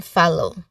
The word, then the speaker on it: follow: Well, maybe we could focus on follow. Okay, the pronunciation of two O's is different here, so it can be confusing to some. All right, the first is like in hot, and the second is O, which is a diphthong sound.